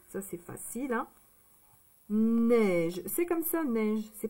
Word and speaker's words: neige: Neige, c'est comme ça, neige. C'est pareil. C'est pareil. Donc, neige, N, E, I. E et I, ça fait le son E.